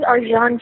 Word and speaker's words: Arcan: His name is Arjan Chetan, and he's from Turkey, so it's a little strange name, but it's spelled Arcan. And what was the last name? Chetan, C-E-T.